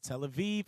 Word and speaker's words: Tel Aviv: In Hebrew, B is pronounced as V. For instance, Tel Aviv is written as Tel Abib in ancient Hebrew. See Ezekiel 3:15. But pronounced and now also written as Tel Aviv.